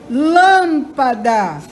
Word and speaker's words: lâmpada: tônica certo vamos lá lâmpada O Lan é a sílaba mais forte tênis o tem é